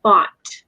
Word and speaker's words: bought: So Americans will pronounce it taught and bought. So it's just pretty much like caught just now.